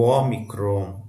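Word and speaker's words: ômicron: O omicrom é o nosso o fechado, perdão, o é breve, como em nó, pó e assim por diante.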